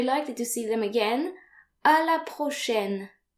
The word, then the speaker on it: à la prochaine: So note here that A and I are pronounced like AI in the English word said.